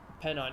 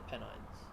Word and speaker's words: Pennines: Pennine, yeah, I know, I'm taking a piss. I know they're the Pennines.